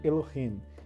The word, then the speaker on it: Elohim: E a transliteração, a leitura, a pronúncia é esta, Elohim.